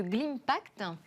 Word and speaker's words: Glimpact: Vous êtes président de Glimpact, je le prononce correctement. Très bien, comme Global Impact.